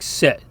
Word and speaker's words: sit: Now the short I in Latin is pronounced the same way as the English I in a word like sit.